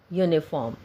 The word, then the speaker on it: uniform: It is sounding V in one and yo in uniform.